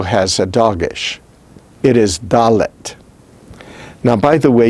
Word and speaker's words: dalet: now by the way you notice that there's an h after the t but that doesn't make it daleth daleth no it's dalet dalet the h after the t indicates in this case that we're pronouncing it with an aspiration dalet instead of dalit and cutting it off now without the doggish